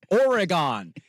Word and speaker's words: Oregon: It's Oregon. Very simple. Why is this hard? Oregon.